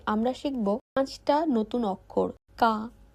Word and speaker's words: か: আপনি যদি নিয়ম করে প্রতিদিন একটু একটু করে প্র্যাকটিস করেন তাহলে জাপানি শিখতে অনেক সহজ হবে।